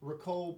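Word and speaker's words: Ricou: the guy underwater is ricoh browning rico yeah but it's spelled r-i-c-o-u which i've never seen before right well that's like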